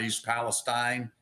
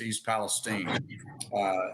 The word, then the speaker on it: East Palestine: It's not East Palestine. It's East Palestine. And if he'd been there, he would know that.